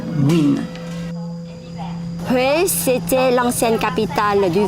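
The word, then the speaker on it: Nguyễn: féodal les en guyenne qui se prononce ici win ouais c'était l'ancienne capitale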